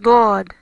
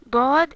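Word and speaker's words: ضاد: Dod is like the letter dal or D, but harder.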